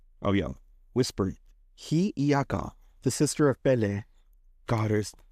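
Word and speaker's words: Hiʻiaka: Hayaka! Sorry to our Hawaiian listeners. It is pronounced Hiyaka. Oh yeah, whispered. Hiyaka, the sister of Pele, goddess fire.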